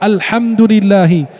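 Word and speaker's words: الحمد لله: Seperti kalau baca Al-Fatihah, alhamdulillahi, bacanya al-ha, pakai ha, artinya pujian. Kalau dia sampai melafalkannya dengan al-ha, pakai ha bukan ha, artinya kematian.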